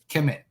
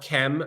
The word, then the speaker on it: Kem: chem which by itself Kem uh the Egyptians didn't write vowels so when we um are we're saying chem we're assuming a kind of short e between the K and the M but really what we